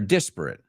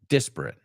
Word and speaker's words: disparate: different um they're varied they're disparate disparate so we're desperate for something disparate do they sound the same no way Jose so